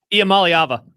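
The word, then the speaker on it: Iamaleava: Nico um I don't know how to pronounce it. Say that again. Amalyava.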